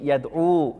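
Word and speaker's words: يدعو: Jadi enggak bisa dibaca yad'u. Jadi dhamahnya kelihatan atau enggak kelihatan? Enggak kelihatan. Maka dibacanya cukup yadu yajri.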